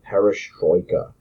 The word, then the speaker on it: perestroika: he begins the process of political reform called perestroika that's how that's pronounced it's not a cool Russian rock band